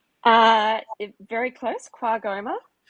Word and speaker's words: QAGOMA: Uh, you you recently spoke on a panel at Quagoma Gallery of Modern Art in Queensland recently. Is that the right pronunciation? Uh, very close. Quagma.